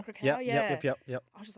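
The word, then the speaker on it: Kraków: Like for me, when I saw, I think, the Polish F45 in Krakow, I think, is it how do you say Oh it? yeah, Krakow. Krakow, Yep.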